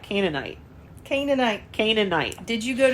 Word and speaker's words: Canaanite: can do it I don't know how to pronounce this next one it's ca n EA ni te Canaanite Canaanite Canaanite Canaanite did you go to church no